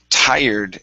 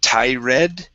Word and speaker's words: tired: And let's go to the word tired. Instead of tired, pronouncing that E, the E is silent.